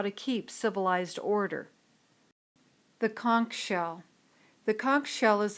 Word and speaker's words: conch: civilized Behavior disappears note although I myself prefer the pronunciation of con most dictionaries and professors prefer the pronunciation conch fire fire is another